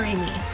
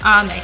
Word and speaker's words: Ame: Is it Aim or Amy? I could see it being pronounced either way. I don't want to butcher it. Ame. Ah, okay. I was wrong on both accounts.